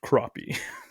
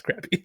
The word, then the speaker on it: crappie: it says it's pronounced crappie like no it's crappy last time I noticed the word the letter A makes an a noise just like how Americans